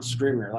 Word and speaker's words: Scrivener: Scrivener, yeah.